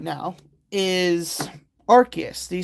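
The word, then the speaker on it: Arceus: And it's like that's not how it's pronounced. It's Archus, not Arus.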